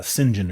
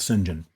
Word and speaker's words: St. John: It was kind of a weird pronunciation of St. John as I think as how it was uh printed or written, but it was called Singen.